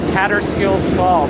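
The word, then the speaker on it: Kaaterskill Falls: Yeah, we were right by a place called Cater Skills Fall, but spelled like K A T E R.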